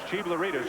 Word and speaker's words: Chiglaridis: You look at the way his name is spelled. It doesn't look anything like Chiglaridis, but it's Chiglaridis or Voss again. It's the easiest way to say it.